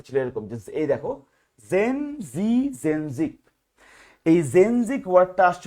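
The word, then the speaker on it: zenzic: এই সেন্সিকের উপরে আবার সেন্সিক মানে জেনজি এভাবে বলতেছে উচ্চারণটা এরকম জেনজি তার মানে প্রথম জেনজিক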